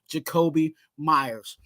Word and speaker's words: Jakobi Meyers: But this next guy is our number one wide receiver, Jakobi Meyers.